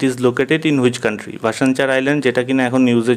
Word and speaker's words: ভাসানচর: ভাসানচার island যেটা কিনা এখন নিউজে চলছে, সেটা কোন দেশে অবস্থিত? প্রথমেই বলে রাখি, এই যে ভাসানচার কথাটা বলেছি, বেসিক্যালি এর প্রোনাউন্সিয়েশনটা এরকম নয়। এটা ভাসানচার নয়, এটা ভাসানচর। এটা হচ্ছে ভাসানচর শুনেই বুঝতে